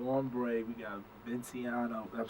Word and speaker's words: Vinciano: We got Vinciano.